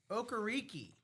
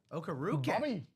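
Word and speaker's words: Okereke: Bobby Okariki on this very very sweet Giants black jersey. How about that? Okukaroo. Okay. Okaroo. Yeah, I just pulled up the pronunciation right there. Okaroo.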